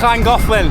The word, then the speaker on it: Llangollen: Just coming back into Llangollen. Sorry, Llangollen, that's how you say it in Wales.